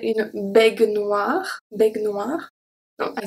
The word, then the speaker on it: baignoire: I don't pronounce the E, and the AI make the sound E, baignoire.